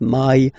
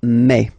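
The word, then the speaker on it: mai: in French remember when you combine this a and then e vowels you get the sound e a so really open e okay and then you pronounce it me me okay so don't pronounce e don't try to pronounce it no it's me me so it's not my it's me okay and then here but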